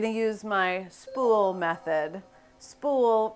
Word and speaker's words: spool: use my spool method spool rhymes with cool and it stands for